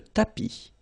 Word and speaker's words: tapis: Remember final S not pronounced. Le tapis.